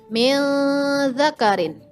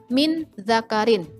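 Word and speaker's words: مِنْ ذَكَرٍ: Bukan min zakarin. Itu salah. Yang betul mil zakarin.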